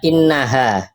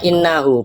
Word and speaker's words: innahu: Ini katanya Bang tadi Bang Oten Naga yang depan ini bacanya innaha. Padahal ini sudah jelas-jelas ini bacanya innahu. Kenapa dibaca innahu? Karena ini ada wau. Kalau innaha itu bukan wau, tapi kasroh. Pakai kasroh itu namanya innaha. Kasr di atas. Kalau kasrya di bawah namanya innahi. Nah, kalau ada wunya innahu itu cara bacanya.